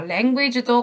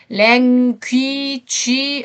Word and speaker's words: language: to learn a new language. 자, language도 강세가 앞에 있어요. 그런데 language 아니고 language예요.